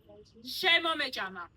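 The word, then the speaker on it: შემომეჭამა: It is called shemo mejama. Shemo mejama. Say it. Good pronunciation.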